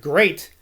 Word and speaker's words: great: chesterfield told me that the word great should be pronounced so as to rhyme to state which is true johnson